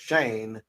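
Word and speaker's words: Shein: was the one and only Shane and it's pronounced Shane mom premiering Shane mon Premiere uh she's a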